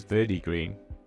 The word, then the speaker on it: Verdi Green: Blue, Citadel, I had what I pronounced in the video that I did for it as Verdi Green, which is right, but the English translation